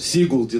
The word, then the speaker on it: Сигулде: «В Сигулде», да. Вот туда правильно ставится ударение.